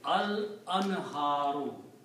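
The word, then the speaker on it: الأنهارُ: And when you put al before that, you pronounce only one dhamma here. So it will be al-anharu.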